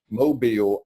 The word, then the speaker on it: Mobile: very day is in Mobile. You like the way I said that? Mobile, Alabama. You almost say it like the locals do.